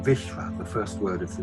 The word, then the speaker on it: Vishva: One major one, the Sora called Bhisma, which is their way of pronouncing Vishva, the first word of